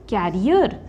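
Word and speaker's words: career: कैन यू put this bag on your cycle कैरियर क्या तुम इस बैग को अपने साइकिल के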